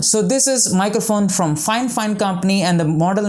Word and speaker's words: FiFine: brand and you might read the you know brand name as fine but it's not fine it's fine fine so most of the